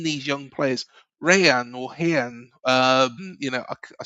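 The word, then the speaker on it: Rayan: young players, Ryan or Hian. Um, you know, I I still can't say it properly. The Rs are pronounced as H's, aren't they, in Brazil?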